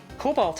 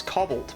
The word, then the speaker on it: cobalt: Cobalt I used to say is cobbled, but I'm trying to think if there's like a Pokemon word somewhere.